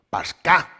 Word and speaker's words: Pascha: Una palabra que en latín fue traducida como Pascha, lo cual terminó pronunciándose como Pascá, ignorando la H.